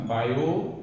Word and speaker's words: Biot: बायो, इसमें t क्या silent है, बायो Savart law, बायो Savart का नियम।